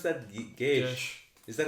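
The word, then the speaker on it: geis: do you pronounce that gage is that how you pronounce it i think so yeah yeah i always pronounced it for some reason no i think the se is an sh sound yeah as far as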